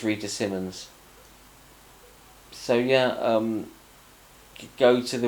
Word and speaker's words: Simons: I think it's Rita Simmons, not Simons. It's spelt like it's Simons, like Paul Simon spelt his name, but stick an S on the end and all of a sudden it's become Simmons.